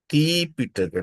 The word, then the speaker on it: Tipitaka: When you come to the, when you refer Pali language, in Pali language, it is called Ti Pitaka, not three. I think you can sound, you can differentiate pronunciation of three and Ti.